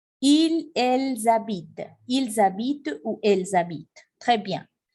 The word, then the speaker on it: habitent: Ils habitent, je ne prononce pas ENT.